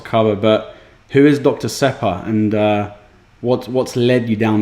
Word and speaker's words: Sepah: I have to say it the Iranian way once, Dr. Sepah.